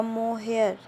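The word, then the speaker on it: mohair: और ऐसे इंग्लिश में देखिए प्रोनाउंसिएशन किया जाएगा तो देखिए ये होगा मोहेयर।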